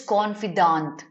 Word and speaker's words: confidant: next word is here how do you pronounce the word confident no confident is c-o-n-f-i-d-e-n-t this is confidant confidant and confident are